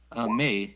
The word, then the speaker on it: Mei: Next is, how do you pronounce that? Is it May or Mai? Mei, yes, Me?